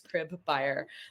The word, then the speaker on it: Cribeyer: So that's how I tell people how to remember to pronounce my last name is Cribeyer, like one who goes in and they like pimps the house out.